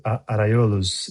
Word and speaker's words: Arraiolos: and I'm going to get this wrong, but Arraiolos rugs? Is that pronounced correctly? That's not pronounced correctly, is it? Arraiolos Arraiolos in Portuguese.